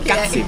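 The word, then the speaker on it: qazy: Il Kazi. Il Kazi. Che già il nome tu dici, è un programma, mettiamo magari un'immagine di che cos'è. Però si scrive Q-A-Z-Y. Sì. Da non confondere.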